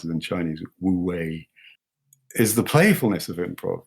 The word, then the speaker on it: Wu Wei: And for me, when I think of improv and Zen, the non-doing aspect of Zen, how do you pronounce it in Chinese? Wu Wei, is the playfulness of improv.